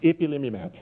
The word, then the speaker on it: ipilimumab: It was a key trial with a medicine which I learned to pronounce ipilimumab.